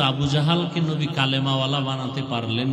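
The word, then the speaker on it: জাহল: নাম এইমাত্র তো বললাম আবু জাহাল জেহেল না জাহাল নাম হলো ইমাম গাজালি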